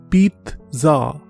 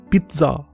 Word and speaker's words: pizza: Pizza. Pizza. Pizza. Please don't pronounce it like pizza. This word is pizza.